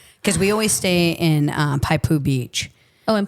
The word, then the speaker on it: Poipu: I've just been there because we always stay in Paipu Beach. Oh, in Poipu?